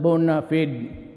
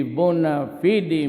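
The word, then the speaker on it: bona fide: the Bon media Bon media sometimes they pronounce it bonafed but whatever the thing is the bua fidi media has always been our partner for chains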